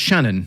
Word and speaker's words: Channon: yeah yes Michael Roger so it's pronounced Shannon is it Mike Shannon yeah he scored over